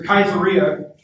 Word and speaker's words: Caesarea: So Caesarea, which is how you should pronounce it. This is not Caesar. That's not addressing. The C always makes a hard K noise in Latin, unless it's followed with a couple of different vowels.